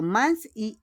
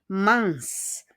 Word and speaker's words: mince: So, mince, M-E-N-C-E. Yung E-N po is pronounced kama A. Mince.